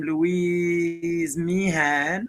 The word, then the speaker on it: Louise Meehan: yeah Louise uh sorry is it Louise is that I pronounce your name Louise Meehan yeah saying it right uh the ponopono prayer